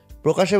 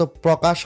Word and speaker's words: প্রকাশ: প্রকাশের বেলায় কিন্তু একই রকম, প্রকাশ না, এটা মূলত প্রকাশ হয় না, এটা হয় হচ্ছে প্রকাশ।